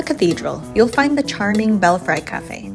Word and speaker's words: Belfry: Just a few steps from the Manila Cathedral you'll find the charming Belfry Cafe (*pronounced as bel-free*) while La Cathedral offers